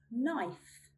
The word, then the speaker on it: knife: We do not sound out the letter K when it comes before an N at the beginning of a word. Here's some examples. Need, need. Knife, knife.